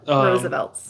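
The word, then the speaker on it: RSVLTS: never heard of it, called Roosevelt Shirts. It's spelled R-S-V-L-T-S. Yeah. Roosevelt's.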